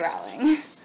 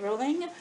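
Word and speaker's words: Rowling: Harry Potter and the Deathly Hollows by JK ring J why do I say her name wrong Harry Potter and the Deathly Hollows by JK rolling I got it at the midnight release like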